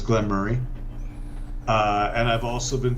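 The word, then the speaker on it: Glen Moray: something i forgot before i've been told the proper pronunciation is glenn murray uh and i've also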